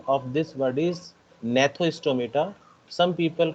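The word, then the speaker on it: Gnathostomata: of this word is nathostomata some people call it uh or say it gnathoistometer where g is silent so this uh this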